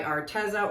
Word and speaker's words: Arteza: Pearl Arctic Blue by Arteza, or Arteza is the proper way to pronounce it, but I just call it Arteza because I think it sounds better.